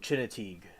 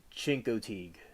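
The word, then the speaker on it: Chincoteague: Oh, Chinatig and one of my faves. So, I learned that pronunciation as at a young age. Misty was a real wild pony on the island of Chinkotig.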